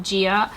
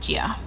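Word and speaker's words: Gaia: It's spelled G-A-I-A. I think that's how it's called, Gia.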